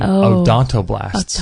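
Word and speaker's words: odontoblasts: know it's like a how do you spell that word like He-Man um o d o n t o b l a s TS just like it sounds oon o blast blast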